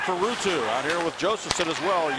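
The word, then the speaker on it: Josefson: Behind the net for Ruutu, out here with Josephson as well, or Josephson as it's pronounced.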